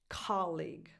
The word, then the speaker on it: colleague: So with some definition, but still the stress is on the first syllable, colleague. So that's the music of this word, colleague. Dada, not dada.